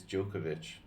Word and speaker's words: Djokovic: talking about now yokich yokovic yokovic the D is silent but is the D actually silent it's no it's not silent right it's Djokovic it's different yokovic and Djokovic jokic and Djokovic